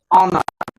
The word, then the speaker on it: honour: कोई वर्ड आप पढ़ेंगे, जैसे ऑनर हो गया, ऑनर HONOUR, तो यहां आप ऑनर, लेकिन हमको तो सिखाया गया था हानर पढ़ने के लिए ना, यच को तो ह पढ़ते हैं, लेकिन यहाँ यच क्या होगा, इसका मतलब तब साइलेंट है, मूक शब्द है, साइलेंट हो गया है।